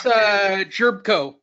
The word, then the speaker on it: Jerebko: say that it was cool he got Jonas Jerebko did I say it right yep Jonas chirp